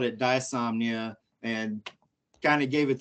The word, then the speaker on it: Diesomnia: it was actually uh two words which was desomnia when you pronounce it so it's still spelled d-i-e insomnia and we just put it together as one word and called it dysomnia and kind of gave it the meaning of